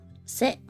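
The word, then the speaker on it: せ: Se. You pronounce this as se.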